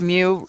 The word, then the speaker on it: mu: the symbol is is pronounced mu rhyme with few all right let's take